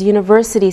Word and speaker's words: university: We say a university because university sounds like a Y sound.